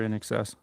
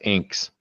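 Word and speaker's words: INXS: was in high school, I pronounced that as inks. A lot of people do. Yeah. You're not the only one. Yeah. Like, why do y'all like inks? It's It's in excess.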